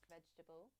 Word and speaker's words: vegetable: It's not vegetable, but vegetable. Vegetable. Three syllables only.